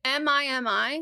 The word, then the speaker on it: Mimi: Is it MIMI? Yeah. Oh, because I was kind of loving the idea that it was meme, but you just pronounced it Mimi, and then it could